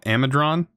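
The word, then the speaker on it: Amadron: item and somebody said this is supposed to be like saying Amazon so a madryn is how it's supposed to be pronounced oh I guess that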